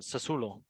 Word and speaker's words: Sassuolo: Salernitana and how do you pronounce this one? Sassuolo. Sassuolo. No, Sassuolo, no, Sassuolo. Sassuolo.